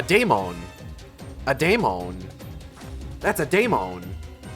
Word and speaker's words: daemon: That's a daemon. I know it's like pronounced demon, but I'm going to say daemon.